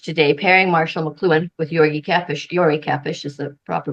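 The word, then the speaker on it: György Kepes: There's several reasons I want to share this research today, pairing Marshall McLuhan with Yori Kepes is the proper pronunciation.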